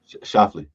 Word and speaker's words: Schauffele: Schauffele, Xander Schauffele.